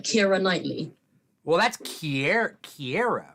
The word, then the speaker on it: Keira: It's ear. Like how you spell ear.